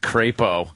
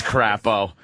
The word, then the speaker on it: Crapo: guy out there named crepo crepo it's crapo your name's [ __